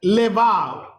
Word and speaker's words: Levav: Nephesh and Levav. नेफेश और लेवाव। I will tell you the spelling. आपको उसका स्पेलिंग बताऊंगा।